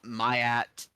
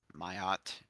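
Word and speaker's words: Ma'at: elements were created uh mayat mayot I've heard it pronounced both ways actually uh came after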